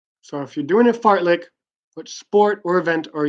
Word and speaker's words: fartlek: the activity called a fart lick what are you doing so what activity are you gonna be participating in if you are doing a fartlek yes I'm pronouncing that correctly fartlek what sport or activity